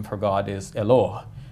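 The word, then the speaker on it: Eloah: name for God is eloh which almost sounds like the Arabic Allah H and sometimes it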